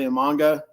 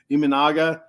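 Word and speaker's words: Imanaga: If the Mets can't get Yamamoto, a nice consolation prize would be Shota Imanga. Iminaga. I keep saying it wrong. Iminaga.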